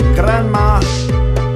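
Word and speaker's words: Granma: a must that's right my name is just as you saw if you pronounce it correctly it sounds like Grandma orgin is the name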